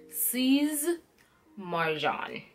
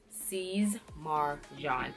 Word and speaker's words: Sies Marjan: it is s IES but you're pronouncing it like it has a Z at the end so with C's like Caesar Caesar Mar M AR and then the J and it's pronounced like a jean like a John that's the person John so it's C's Marv John sees Marjan sees mark John that one is pretty